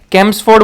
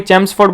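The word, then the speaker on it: Chelmsford: अब कोई बच्चे हैं जो इसको कैम्सफोर्ड बोलेगा, कोई चेम्सफोर्ड बोलेगा, तो प्रोनाउंसिएशन आपके एंड तक है, जो आप कहना चाहें वो कह सकते हो।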